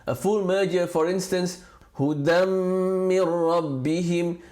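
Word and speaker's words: هُدًى مِّن رَّبِّهِمْ: A full merger, for instance, hudam min rabbihim, the sound of the tanween, the n sound of the tanween disappears altogether because hudan min rabbihim. That's how you spell it, hudan min rabbihim. But when you read it with idgham, the n of the dan just completely disappears and merges into the meme.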